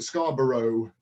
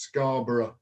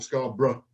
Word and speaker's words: Scarborough: or Scarborough, or as Paul Simon sings it, Scarborough, in the famous Simon and Garfunkel song, but over here it's pronounced Scarborough or Scarborough, like that.